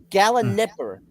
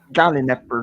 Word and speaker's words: Gallinipper: Is that how you pronounce it? Gallinipper? Gallon Nipper. That's an Nipper. I, not an A, after the N and P. Okay, Gallinipper.